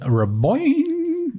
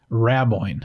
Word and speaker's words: Raboin: So that was Coach Raboin. No, that's not right. It's Raboin. Yeah, that's interesting.